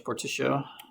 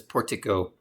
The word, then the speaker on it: Portico: It looks like a Spanish word to me. That's why I keep using that soft C pronunciation. I'm not a language expert. We don't need that. I asked Google once how you say that word, and it says portico.